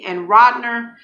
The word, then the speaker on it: Rodner: That's spelled Gould and Rodner. That's Radner, and they are in Chicago.